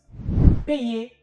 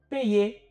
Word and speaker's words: payer: dit tout à l'heure le y est composé de deux bras ou deux branches chaque branche est un